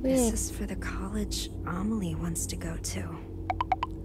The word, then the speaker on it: Amelie: This is for the college Amelie wants to go to. Amelie? That's how you say her name? I thought it was a meal.